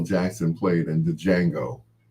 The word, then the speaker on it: Django: Jackson played in the Django. Well, the D is silent, I'm sorry.